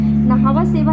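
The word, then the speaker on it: Nhava Sheva: नहावा सेवा है सर, वैसे ही लिखते हैं, सर का प्रोनाउंसिएशन वैसा ही है, नहावा सेवा है।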